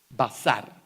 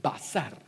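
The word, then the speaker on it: בשר: Basar, así se pronuncia. Ya que se están familiarizando un poquito con todos estos simbolitos, así se escribe. Basar, así se pronuncia, basar.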